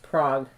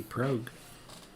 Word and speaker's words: Prague: look like miniature castles oh it's pronounced prague then why didn't they just spell it like that but okay it could be prog no it's prague but it could be